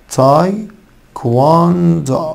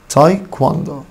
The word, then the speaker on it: taekwondo: تاي كواندو. خلي بالكوا الدبليو تاني منطوقة. تاي كواندو. تاي كواندو.